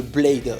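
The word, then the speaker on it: B1ad3: tapera dans l'œil de Blade alors je prononce Blade mais ça s'écrit B1 a D3 c'est les pseudos de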